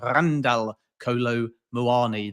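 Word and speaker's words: Randal Kolo Muani: that's the heritage of Randall Kolo Muani, I was told you're supposed to roll the R in Randall. So it's actually Randall Kolo Muani.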